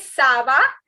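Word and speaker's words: ça va: is not bn okay like i just said not all the alphabets are pronounced so it is sava and then for thank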